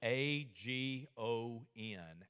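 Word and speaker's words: ἀγών: There's another Greek word, you know, because the word for strive is spelled A-G-O-N, agon, and we get the word agony from it, which describes how we feel sometimes when we go to the gymnasium.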